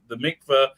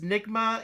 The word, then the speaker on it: mikveh: Is nigma? Is that how you pronounce it? Is that purification? Mikveh. Mikveh the mikveh is a.